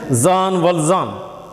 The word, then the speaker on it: Jean Valjean: See the pronunciation? Jean Valjean.